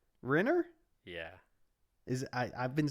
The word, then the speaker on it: Renner: Is it not Reiner? Shut the fuck up. You know it. Renner?